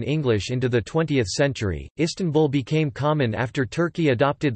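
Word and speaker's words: İstanbul: dotted and dauntless eye in English the stresses on the first or last syllable but in Turkish it is on the second syllable tan a person from the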